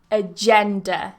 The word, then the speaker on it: agenda: authorize 20 we have agenda so that g is J agender AG gender how